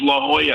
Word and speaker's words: La Jolla: kind of dogging you because you didn't say La Jolla correct, right? And I was in La Jolla. And I didn't even say it right. I said La Jolla. And there's no, it's La Jolla.